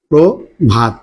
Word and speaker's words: প্রভাত: আছে অ আছে আচ্ছা প্রথমে র ফলা যুক্ত শব্দে যদি অ থাকে তাহলে পূর্বের পূর্বের এই অটা আর অ থাকে না এটা পরিবর্তিত হয়ে কি হয় প্রকার হয় তাহলে এর উচ্চারণটা আমাদের হচ্ছে প্রভাত উচ্চারণটা হচ্ছে প্রভাব তেমনি এখানে উচ্চারণটা কি হচ্ছে?